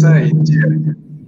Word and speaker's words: 再见: Apa maksud zai jian? Selamat tinggal. Jumpa lagi. Zai jian. Okay, ikut 老师 pronounce.